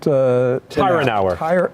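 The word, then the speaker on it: Tyrnauer: In fact, this Vanity Fair article, the producer of the film, is it, how's he pronounce his name? Matt Tyranauer.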